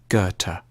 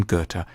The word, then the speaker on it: Goethe: supposed to say it a safe bet is to start with a hard G on ger and end with a Turk goethe johann wolfgang von goethe has often been seen